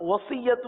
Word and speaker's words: وصیت: اب وصیت کی ہجے الگ کر دیں. واو زبر و، صاد یا زیر صی، صی، سی نہیں پڑھیں گے، صی، وصی، یا زبر یا، وصیہ، تا پیش تو، وصیت وصیت.